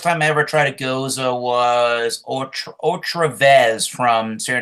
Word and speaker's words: Gose: The Goza, which is spelled Gose.